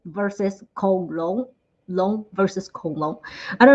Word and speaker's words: 龙: But in Chinese, in Mandarin, dragon and dinosaurs, the pronunciation, the words we're using are kind of similar. For dragon, we say long.